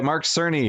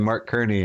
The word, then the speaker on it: Mark Cerny: but it was revealed by Mark Cerny, who I apparently was calling Mark Kearney, and I was wrong, but now I know how to pronounce it correctly.